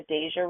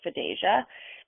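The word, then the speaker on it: FDASIA: Many people call it the Fedasia report. Um there is no right way to say it. Section 618 of the Food and Drug Administration Safety and Innovation Act or Fidasia mandated that FDA, that's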